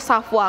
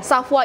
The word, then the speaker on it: Savoir: teman-teman semua jadi eee walaupun tulisannya savoir kita tuh harus bacanya shafwa Kenapa sih Safwa jadi ya shafwa Ini tuh berasal dari bahasa Perancis gitu jadi asal bahasa Perancis